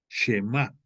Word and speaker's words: Shema: Y entonces este Moisés, en ese Shema Israel, el Shema se escribe, te lo voy a deletrear, S-H-E-M-A, Shema, se acentúa, aunque no tiene el acento prosódico, ortográfico, perdóname, se pronuncia Shema Israel.